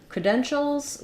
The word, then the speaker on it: credentials: credentials excuse me so when we're looking at credentials we have second syllable stress um that means the cre syllable is going to be short um in the